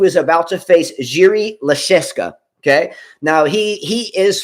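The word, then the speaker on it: Jiří Lehečka: about to face jiri lecheska okay now he he is from Le Cheska that's how you pronounce his name um he is born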